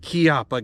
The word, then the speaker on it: Chiappa: yes I know it's spelled chiaa but it's pronounced kppa guys so this is the kppa Rhino it is introduced by kppa firearms in